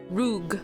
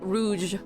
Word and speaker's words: rouge: say it with the American accent you say roog Rouge Rouge that's the American pronunciation but in French back to my list